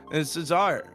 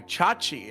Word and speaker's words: Chachi: He went in for some flash cyclones when his team was not behind him and Cesar or sorry Chachi I've been told is how it should be pronounced.